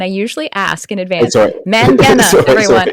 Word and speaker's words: Mangena: Mangena, everyone. I said it wrong, and I will say it correctly. The E confused. The E after the G makes everything confused.